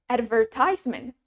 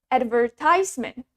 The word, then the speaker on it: advertisement: The next word we have advertisement, advertisement, advertisement. Advertisement means iklan, advertisement. In British accent, the stress is on the second syllable, ver.